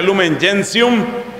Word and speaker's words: Lumen gentium: al capítulo octavo de Lumen gentium que se pronuncia Lumen jium y usted encontrará lo